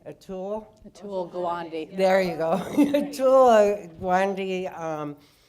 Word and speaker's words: Atul Gawande: is that how you say his name Atul Atul Gawande there you go joy Wendy the book and